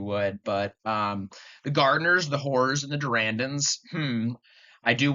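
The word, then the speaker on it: Hoare: Yes, that's like how it's pronounced, the Whores.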